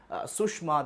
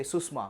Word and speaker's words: Sushma: pronunciation like sir, sha, rather than saying Sushma, they say Susma.